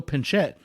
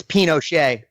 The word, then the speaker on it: Pinochet: category is history I'm gonna try not to butcher these names a 1973 coup d'etat helped Augusto pincette overthrow Salvador Allende the democratically elected leader of what South American country its Pinochet I can lock in I will mention that